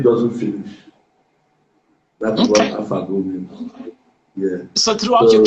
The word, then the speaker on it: Afagwu: Oh, I want to learn how to pronounce your surname. It's Afagwu. How do you say it? Afagwu.